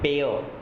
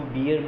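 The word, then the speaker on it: bear: जैसा कि हम जानते हैं कि भालू जो होता है उसे हम बियर कहते हैं, तो this is नॉट the correct pronunciation. बियर तो पीने वाली होती है, दिस इज़ बेयर।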